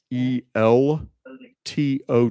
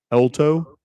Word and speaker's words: Elto: And my last name is e l t o w, Elto.